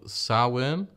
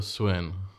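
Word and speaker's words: Samhain: developed it was called now i've heard multiple pronunciations for this as you call sarwin or swin but it was basically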